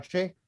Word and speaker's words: Shea: from maple babel dot ai did i pronounce it right uh shay pebble bevel dot ai and uh we're gonna